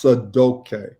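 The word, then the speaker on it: Sadaukai: name so it's sa da UK but it's pronounced sad okay and and so the students gave me that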